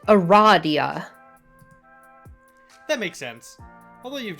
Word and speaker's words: Aradia: loud because she immediately corrects you it is pronounced eradia that makes sense although you've just met you